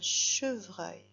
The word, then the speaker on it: chevreuil: Donc la première syllabe, che, C-H-E, che, comme ça s'entend. Et la deuxième syllabe, elle a beaucoup de lettres, c'est la syllabe vreuil.